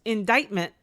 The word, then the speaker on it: indictment: Indictment, pronounced indictment, but spelled like indictment.